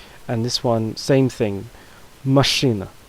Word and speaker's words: машина: Машина, машина, машина. The stress falls on the first syllable a, but is not very prevalent on the second syllable a.